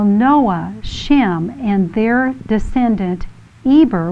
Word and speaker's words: Eber: Now Noah, Shem, and their descendant Eber, which in Hebrew is pronounced Aver, were Abraham's successors, who were all living at the time that Abraham was born.